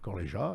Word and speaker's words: Corlija: Donc, on a le Gallia Lucian avec Corleja. Corleja, voilà. Corleja, exactement. Pourtant, je m'étais entraîné avant. C'est pas tous les jours que tu le prononces.